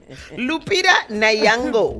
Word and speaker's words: Lupita Nyong'o: Hey, Lupita Nyong'o.